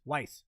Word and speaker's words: Weis: on the subsequent novels whis is pronounced like ice weiss okay got it uh